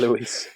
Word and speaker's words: Louis: That you pronounce Louis as Luis. Yeah. Luis.